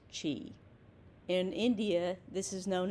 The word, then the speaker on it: Qi: According to practitioners, the healing effects are mediated by channeling the universal energy known as Qi, pronounced Chi.